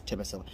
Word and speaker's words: Tbilisi: I don't know how to pronounce it. It's Tbilisi.